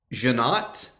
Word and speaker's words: Jeannotte: Dan, I wrote this phonetically this time, so I'd say it right. I know. Jeannotte. Jeannotte. That's how they said it in an interview I watched with him.